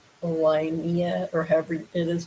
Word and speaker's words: Liehnnia: I believe it looks like it's pronounced Linnea. Liehnnia is how her name on her birth certificate is actually spelled.